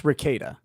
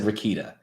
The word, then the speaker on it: Rekieta: everybody does it's okay it's ricada ricada God damn it I said rakita I always say I don't know who your forefathers were but they fucked up that pronunciation they're polish which is why they can't spell okay that makes perfect okay so one more time Rakata ricada ricada law perfect I've got